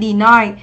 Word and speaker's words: deny: Phủ nhận, chúng ta đọc là deny, trọng âm 2 và đây là âm I, deny.